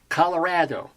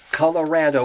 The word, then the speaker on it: Colorado: Colorado, Colorado, or the Spanish would probably say Colorado, Colorado, but we say Colorado. And I don't even know why I say we. I've only lived here 9 years, but that's the way we pronounce it.